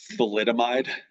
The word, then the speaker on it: thalidomide: spectrum okay so anybody heard of this it's pronounced thalidomide no it was a bio um biologically active